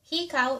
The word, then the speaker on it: hikaw: Hikaw is earrings. Hikaw. Like he, as in the he guy, and cow as in cow, cow, C-O-W, hikaw.